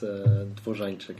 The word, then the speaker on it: Dworzanczyk: It's alright, it's Dworzanczyk in Polish, but nobody can pronounce it.